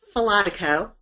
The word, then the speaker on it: Falotico: test to our listeners sure Karen and I'll pronounce my last name for Becky its philotic oh and I can understand why you choose not